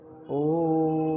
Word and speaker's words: ओम: ओम का उच्चारण ओम, ये प्लुत कहलाएगा।